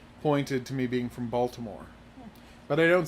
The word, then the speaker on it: Baltimore: to me being from Baltimore. But I don't say Balmer, so you know I'm not actually from Baltimore. Balmer? That's how they pronounce the name of their city.